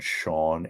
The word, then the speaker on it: Schawn: And Dave and Randy had a camper at a place outside of Oberlin called Sean Acres. Okay. And it's not, it's spelled SCHAWN, whatever.